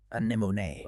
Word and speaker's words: anemone: The issue with anemone is all about vowel flow and where you place the stress. Learners often stress the second syllable, but the correct pronunciation places the stress on the third syllable.